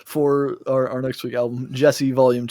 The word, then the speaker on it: Djesse: Those are all great descriptors for our next week album, Djesse Volume 2, spelled with a D at the beginning, so it's DJESSE for those that are going to be Googling.